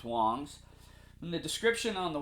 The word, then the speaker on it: Wangs: You would think it's pronounced Wangs, but it's Wangs.